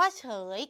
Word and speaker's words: เฉย: ๆ คำ ว่า เฉย เกิด จาก ฉ เออ ยอ เฉย ก็ คือ ฉ ฉิ่ง เป็น พยัญชนะ ต้น เออ คือ สระ และ ย คือ ย ยักษ์ เป็น ตัว สะกด ใน การ เขียน เมื่อ มี ย ยักษ์ เป็น ตัว สะกด สระ เออ ก็ เลย ต้อง ตัด อ อ่าง ทิ้ง กลาย เป็น คำ ว่า เฉย และ คำ สุด ท้าย